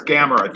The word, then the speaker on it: Gamera: I have no I I love gamma yeah gamma and that's how I that's how I called him was gamma some people say Gamera but it's Gamera it's camera and you know